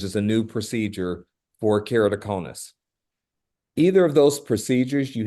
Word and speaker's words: keratoconus: Good pronunciation, by the way. Did I get So it? that's, yeah, so that's keratoconus. Okay, perfect. Okay. So keratoconus as a disease is the bulging out of the cornea itself.